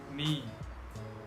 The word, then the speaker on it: knee: K is not pronounced when it comes before an N. For example, knife, no, knee, knock, not, knowledge.